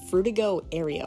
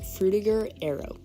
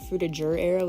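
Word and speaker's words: Frutiger Aero: think some people say Fruita Arrow as well but when I looked it up the European pronunciation which is where the word originated is with a gur not ger so I just went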